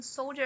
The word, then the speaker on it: soldier: Aqui, inclusive, em soldier, a combinação de vogais, o i e o e, vira o schwa na hora da pronúncia.